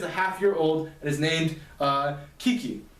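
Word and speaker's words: Kicci: This kid is a half-year-old and is named Kiki. Kiki is spelled K-I-C-C-I, which is the spelling of Ricky with a K.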